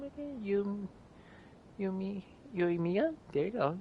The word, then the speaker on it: Yoimiya: Yoimiya? There you go, Yoimiya.